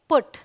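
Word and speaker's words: put: हम बोलेंगे पुल ऑलराइट और पी यूटी को बोलेंगे पुट तो यह एक्सेप्शन कह सकते हैं इस रूल का कि भाई पी यूटी को हम पुट बोलते हैं बी यूटी को बट बोलते हैं तो कुछ ऐसे वर्ड्स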